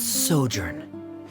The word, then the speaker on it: sojourn: everything clear uh director's osimos how do you pronounce this word let me see Ah that's sojourn it means to stay for a while this